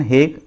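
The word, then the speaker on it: Hague: Different जितनी भी organisation हैं इनका headquarter the हेग, pronunciation हेग in Netherland.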